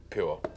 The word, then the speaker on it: Pou: Spell it? P-O-U. Okay. Mm-hmm. Pooh. And so for like 12 minutes of footage out of the 40 that we had was us trying to say Miss Pooh.